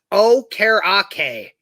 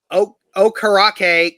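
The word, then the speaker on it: Okereke: it is um so the pronunciation on the broadcast it was oh karake okay and kevin bowen said was told this is the correct pronunciation oh karake confirmed that earlier this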